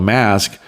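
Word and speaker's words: Masque: And one night they had a group called Mask, that's spelled M-A-S-Q-U-E, who were very entertaining.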